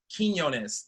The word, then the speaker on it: Quinones: welcome on our first trainer BG Queen Nick Quinn own quinones there we go all right let's make sure pronounce it right are you all with us